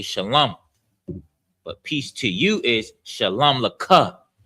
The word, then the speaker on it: Shalom: Shalom is pronounced, that the sha is pronounced by itself. The lum is together. The la and the ma are connected. So it's lum. So it's sha, lum, and then ya.